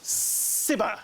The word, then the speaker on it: Cibber: Cber. Cber. Ladies and gentlemen, Sibber. Yeah, of course. I um You may be surprised to hear how often it is incorrectly pronounced. Ka, ka, zeber, zyers. I have heard them all.